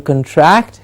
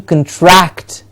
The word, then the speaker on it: contract: agreement the kimba comes a con gets the stress to say contract the contract does not